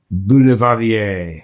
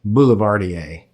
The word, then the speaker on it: boulevardier: because you're going to give us a little pronounce the cocktail in French. But of course, again, it is the bulardier. Very, very good. Yeah. Or bulardier.